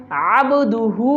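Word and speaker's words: عبده: উচ্চারণ করবেন মুহাম্মাদান মুহাম্মাদান আবদুহু ওয়া রাসূলুহু আবদুহু ওয়া রাসূলুহু আইন এখানেও আইন উচ্চারণ করতে হবে আইন বাজাবার কলগলা হবে আবদুহু ওয়া রাসূলুহু আবদুহু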